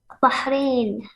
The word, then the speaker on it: Bahrain: from bahrain do you know where that is bahrain you said it right you pronounced it right you said you didn't say